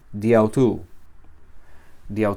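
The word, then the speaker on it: δι' αὐτοῦ: Aquí una preposición apo, otro dia, y en vez de leerse dia autu, se lee diautu.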